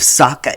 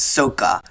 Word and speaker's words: Sokka: Instead of Sokka, it's Sokka.